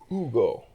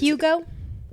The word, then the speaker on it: Hugo: they call it the Ugo. Oh, your drink. Yeah, so that one's good because it's Hugo is how we'd say it.